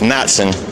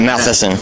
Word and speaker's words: Matson: And you can let them know my last name's pronounced Matson. It's not Matheson.